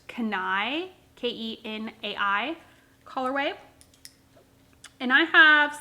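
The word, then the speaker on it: Kenai: this is in the i think it's pronounced kanai k-e-n-a-i colorway and i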